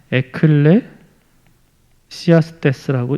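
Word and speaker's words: Ecclesiastes: 전도서를 영어로 에클레시아스테스라고 읽습니다.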